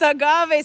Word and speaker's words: agave: It's agave, says Ashley, and she's laughing at me.